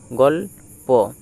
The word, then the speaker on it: গল্প: গ আর ল যদি একসাথে উচ্চারিত করি তাহলে হবে গল গল। আর এই যে নিচে যেটি দেওয়া আছে প। এটি এককভাবে উচ্চারিত করো। গলপ। তাহলে গ ল এ প উচ্চারণটা আসলো গলপ। গ ল প উচ্চারণ হল গল্প।